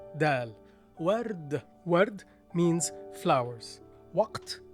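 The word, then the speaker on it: وقت: Waw with an alif, wa. Qaf, the loop in its connected form with two dots over it. Waq. T. T is the Tupperware letter with two dots on top of it in its full form. Waqt. And that's it.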